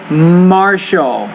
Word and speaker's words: martial: You want to say martial. When you have a TI sound in the middle of a word, Sarah, typically you pronounce it as an SH, so martial.